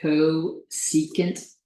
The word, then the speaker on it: cosecant: This is pronounced cosecant.